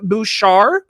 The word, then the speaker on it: Bushar: So joining me today from Young Voices is Bushar. Welcome to the Brian Nickel Show. did I say it right? You did. Thanks so much for having me and for pronouncing my name right.